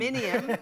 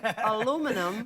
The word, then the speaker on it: aluminium: Australians stress the aluminium, 1 and 3, whereas the Americans stress the second, aluminum.